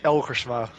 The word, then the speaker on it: Elgersma: Well, yeah, the Dutch way of saying it is Erik Elgersma, but I guess it's a bit difficult to pronounce.